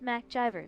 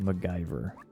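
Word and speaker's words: MacGyver: That's some serious Mac driver level thinking right there. It's pronounced maggyver.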